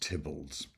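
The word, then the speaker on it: Theobalds: This was um called Tibolds and it's it's spelled Theo Bolds but pronounced Tibbles.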